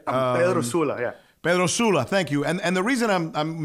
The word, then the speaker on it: San Pedro Sula: I was born in San Pedro Sula, Honduras. Yeah. Yes. Pedro Sul, Honduras, right? Pedro Sula, yeah. Pedro Sula, thank you.